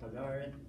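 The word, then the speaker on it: Pagahrit: When he was 11, he went out on the range on what's called, I call it Pagarit. Some of you may pronounce it Pagarit, P-A-G-A-H-R-I-T, Pagarit. And this Pagarit is the wedge of land between the San Juan River and the Colorado River.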